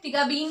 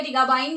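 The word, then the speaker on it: Tiagabine: ठीक है, टिगाबाइन आपकी ड्रग है, टिगाबीन बोलिए, टिगाबाइन बोलिए, जैसे ही प्रोनाउंस करना चाहें।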